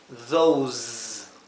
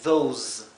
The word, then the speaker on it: those: Estas que están donde la S viene seguida por una vocal, la S se pronuncia como un zumbido, z, z, mientras que esta se pronuncia s, más como un silbido, como la S española.